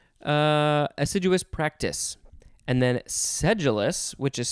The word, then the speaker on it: sedulous: assiduous practice and then sedulis which is spelled s-e-d-u-l-o-u-s implies painstaking and persevering application as in a seduous uh sedulis what did i say before sedulous investigation of the murder all